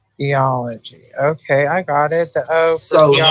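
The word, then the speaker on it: θεός: So you got they, and then you what sound does this make? Ah. And this? Is it S, like Oz? Yes. So put it all together and pronounce that word.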